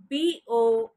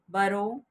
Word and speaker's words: borrow: the first word for today is b-o-r-r-o-w is not burrow it's borrow borrow borrow borrow means to take